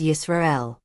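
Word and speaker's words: ישראל: In Biblical Hebrew, it is pronounced approximately as Yisrael.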